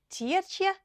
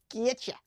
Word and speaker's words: Tjietsje: Tjietsje and Grietsje. Tjietsje. Can you say that? Tjietsje and Grietsje. You'll see the J. The J is not pronounced.